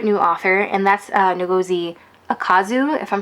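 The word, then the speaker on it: Ukazu: I actually specifically learned how to pronounce it because I was doing a recommendation video for a collab thing, and I actually learned how to pronounce it, and I think it's Akazu. I think that's how you pronounce her last name.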